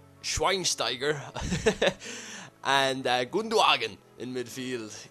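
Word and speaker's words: Gündoğan: uh H Schweinsteiger and gagen in Midfield even though I always say his name wrong I just like saying it like gwag so uh yeah come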